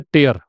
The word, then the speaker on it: tear: Next है टेयर, TEAR, इसका उच्चारण भी ध्यान रखें आप। इसको दो तरीके से आप प्रोनाउंस करते हैं। एक होता है टेयर, ठीक है, रे तो